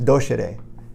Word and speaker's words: docere: So the word doctor comes from the Latin word, which is pronounced docere, and docere means to teach.